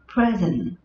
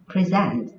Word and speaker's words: present: Khi nó ở dạng danh từ, khi nó đứng ở vị trí là danh từ thì trọng âm của nó rơi vào âm tiết đầu tiên. Khi nó đứng ở vị trí là động từ, trọng âm của nó sẽ rơi vào âm tiết thứ hai.